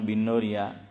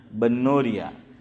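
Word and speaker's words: بنوریہ: لوگ اس کو باقی زیر کے ساتھ بولتے ہیں کہ بنوری ٹاؤن, بنوریا. کہتے ہیں کہ صحیح تلفظ با پر فتحہ ہے, جامعہ بنوریا.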